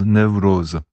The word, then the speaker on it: Newroz: Donc la fête c'est Newroz. Dans toute la variété, ça se prononce Newroz.